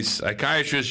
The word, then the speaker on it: psychiatrist: psychiatrists using the bathroom because the p is silent i like that that's